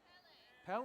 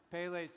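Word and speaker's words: Pele: I just I asked just asked uncle Google how to spell how to pronounce it and they didn't say pelle but anyway pale's tears a vulcanologist would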